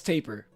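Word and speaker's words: tapir: it was going insane nimi was saying it wasn't pronounced taper but she she thought it was like pronounced every other way namei a simple Google search taper it's like the hairstyle it's like the hairstyle the tapered hairstyle okay that's not that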